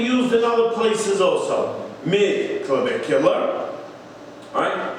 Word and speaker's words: mid-clavicular: would be called the mid-clavicular line. Mid-clavicular. It's just the way that you pronounce mid-clavicle.